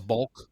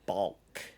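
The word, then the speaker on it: balk: of all b a l k yes a bulk yes I don't even like how it's pronounced or spelled yeah it's not like a chick it's a BK bulk and what is a bulk um basically it's anything that a pitcher does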